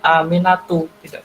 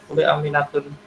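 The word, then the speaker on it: آمنة: fatimatun harus fatimatu contoh atasnya juga Aminah perempuan dibaca aminatu aminatun Hai teh silakan dilanjutkan ngajinya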